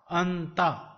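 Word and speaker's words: أنت: Alif zabar noon an, te zabar ta, anta.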